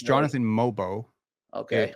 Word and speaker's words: Mogbo: There was a play where It's Mobo, by the way.